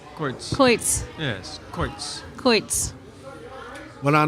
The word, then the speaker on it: quoits: Oh, it's Coits. Coits. Coits.